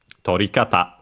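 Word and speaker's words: 撮り方: And by the way, lucky it's also uh it also mentions the accent here on the dictionary which is uh on the last syllable. So just like kata on its own tori kata uh tori on its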